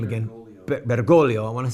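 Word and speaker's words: Bergoglio: with the name again bolio I want to say the name right think that the second g is silent Cardinal bergolo fought against the Marxist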